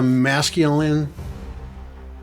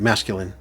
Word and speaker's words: masculine: It definitely is a masculine. That's how you say it. Masculine. Masculine. Masculine.